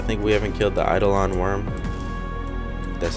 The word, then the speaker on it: Eidolon: I think we haven't killed the EIDOLON worm, that's how you pronounce it, both the both the juvenile version and the adult version, we both have not killed.